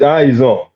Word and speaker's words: Izon: The first question is, I hope how do I pronounce it? This is Izon, no? Now, there are two. Yes. The first question is rather straightforward. Yes, it's Izon. You're right.